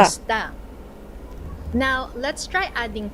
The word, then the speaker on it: Kumusta: Let's slow it down for pronunciation practice. Try it with me. Kumusta. Kumusta. Kumusta.